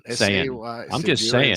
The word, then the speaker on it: Sayin: Do you pronounce it Sayin? Saying, S-A-Y.